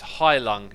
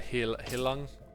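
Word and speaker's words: Heilung: Anabomba Banana says it's high lung is how it's said. Oh, okay. I forget. I think I said Hilung or Helilung.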